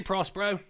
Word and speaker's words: Prospero: Hey, Prospero. Thank you for pronouncing my name correctly.